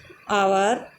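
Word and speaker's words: hour: में से कोई है तो उसके पहले यदि एच आ जाता है तो वहाँ पर एच साइलेंट हो जाता है तथा एच का प्रोनंसिएशन नहीं होता है। For example honest, आवर, ऑनर।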